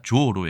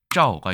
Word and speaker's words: 召: 어떻게 얘기하는지 한번 보겠습니다 중국에서는 발음이 두 개입니다 짜오가 있을 때는 좋아 비슷한 것이고요 샤오바 있을 때는 불을 소자와 비슷한 발음일 겁니다 둘 다 있다라고 말씀을 드리고요 타이완도 마찬가지로 똑같습니다 자 일본에 보시면 쇼라는 발음이 하나이기 때문에 우리의 소와 비슷한 발음만 가지고 있다라고 볼 수 있습니다 다만 일본에서는이 글자를 훈독으로